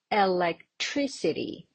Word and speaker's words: electricity: And what about the stress mark? Where do I put it? Electricity on the third syllable.